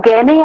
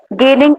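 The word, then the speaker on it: Gagné: दिया था गैने ने, इसको कुछ लोग गैगने भी बोलते हैं जी, इसमें साइलेंट है, आप कुछ भी बोल सकते हैं।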